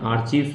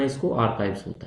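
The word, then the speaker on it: archive: हैं क्या बोलते हैं आर्काइव बोलते हैं ठीक है क्या बोलते हैं बच्चों उसको आर्काइव बोला जाता है ठीक है आर्चीव मत पढ़ना इसको आर्काइव होता है तो 24 आपके हो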